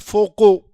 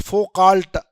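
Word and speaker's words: Foucault: It is pronounced as a foco not focal.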